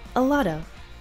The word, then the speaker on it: a lot of: to let Tom do a lot of the heavy lifting. Again, notice the pronunciation of a lot of. We have two schwa sounds here.